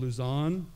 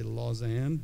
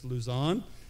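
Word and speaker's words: Lausanne: they they mispronounce it I think it's called Luzan the way it's spelled I say laan but it's Luzan um and it's a worldwide I think they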